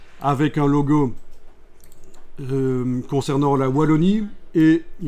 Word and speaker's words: Wallonie: tapé juste dans Google logo Wallonie je l'ai prononcé à la française ça me fait trop plaisir logo Wallonie et ce logo si